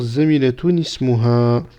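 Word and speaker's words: زميلة اسمها: Et donc, on va bien faire cela. On va faire zamilatun ismuha. Zamilatun ismuha. D'accord? Donc, on va le prononcer comme ça.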